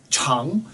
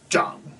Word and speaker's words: 长: But it can also be pronounced zhang. Z-H-A-N-G third tone, or C-H-A-N-G second tone. So C-H-A-N-G second tone is long, and then Z-H-A-N-G, zhang, third tone, means to grow or to mature.